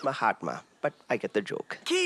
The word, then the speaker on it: Mahatma: - My hot man, Gandhi. - It's pronounced Mahatma, but I get the joke.